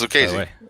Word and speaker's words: Lucchesi: Have you gone to Google to do the pronunciation? I do that all the time. It's Lucchesi.